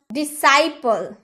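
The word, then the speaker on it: disciple: डिसाइपल, डिसाइपल, सी का उच्चारण नहीं एस का उच्चारण हुआ है।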